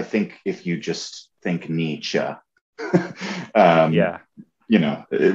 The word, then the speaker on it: Nietzsche: do you pronounce nietzsche yeah nietzsche that's that's like yeah uh if you so if you're thinking in martial arts terms like knee and then cha like a sound you make when you're the karate